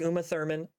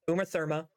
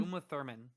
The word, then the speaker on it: Uma Thurman: They brought back Uma Thurman. Uma Therma. Uma how Uma Thurman. Uma Thurman. Uma. I said it right the first time.